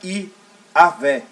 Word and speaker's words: Iavé: Que pronunciando para o hebraico fica Iavé.